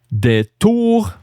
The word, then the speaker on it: des tours: On faisait aussi des tours. Don't forget to not pronounce the S.